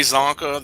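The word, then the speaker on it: Csonka: It took me a while to understand that because in Slavic languages, the C is not pronounced as an S or a K. Oh. So it's always different, and in some cases it can be silent.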